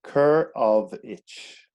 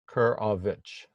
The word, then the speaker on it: Korowicz: slowly for the americans well kerr of itch yeah kurovich yeah so you know